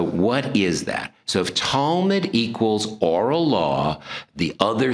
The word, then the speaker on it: Talmud: have a barbecue anywhere okay so the talmud okay and that's not towel mud sorry i grew up